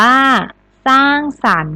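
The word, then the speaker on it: สร้างสรรค์: ติด ต่อ มา คำ ว่า สร้าง สรรค์ อ่าน ว่า สร้าง สรรค์ หน้า ตา มา ทำ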